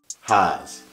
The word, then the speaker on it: Haas: Haas. Haas is like house, but they say Haas.